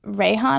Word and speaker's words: Reyhan: At some point, I got a message from somebody I didn't know my name is Rayhan, and that's spelled Reyhan.